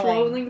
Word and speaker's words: Rowling: I know it's Rowling like bowling, but...